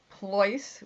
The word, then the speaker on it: Pleuss: Pleuss, which is not easy to A, pronounce, or B, spell, is P as in Peter, Leuss as in Sam.